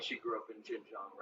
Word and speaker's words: Xinjiang: At least she didn't mispronounce Xinjiang like that kid I debated last time on the Leftward Bound. He kept calling it Zhang.